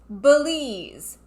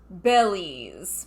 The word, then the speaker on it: Belize: lost pyramids of belize he's putting the wrong amphasis on the wrong syllable it's belize not bellies i've been to belize